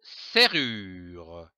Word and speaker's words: serrure: Le mot serrure se compose de trois syllabes, serrure, S-E-R, serre, R-U-R, R-E-R, serrure.